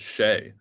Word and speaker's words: Che: Why does Mincy pronounce it Shay instead of Che? I actually think Mincy pronounces it in his voice, how it should sound coming from him. So I don't think Mincy pronounces my name incorrectly at all.